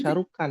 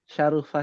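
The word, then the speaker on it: شَرُفَ: F m fiil m ya jangan jangan Jangan sampai salah bacanya, Ibu Sajidah. Bukan Syarukan bukan. Oh, Pak Syarufa salah ya. Syarufa.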